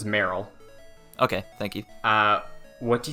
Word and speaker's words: Marill: So the pronunciation's Meryl.